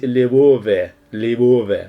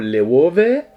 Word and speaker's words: LOEWE: Apparently you should the correct pronunciation is LOEWE, okay?